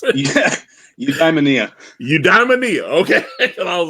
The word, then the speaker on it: Eudaimonia: Signed copy of Udem. Say that again for me. How do you pronounce it? Yeah, Eudaimonia.